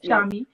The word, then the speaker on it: Shami: Shami.